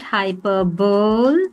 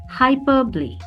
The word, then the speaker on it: hyperbole: The pronunciation is not hyperbol. These are all lat these all have come from Latin origins. It's hyperbole.